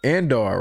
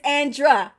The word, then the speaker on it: Andra: I'm gonna go Alice, and I'm gonna go Andar, right? Oh, it's Andra. It's Andra.